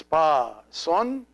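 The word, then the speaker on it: ⲡⲁⲥⲟⲛ: This letter is always pronounced an S. It looks like the English C, but it's always pronounced S. So it's pa son.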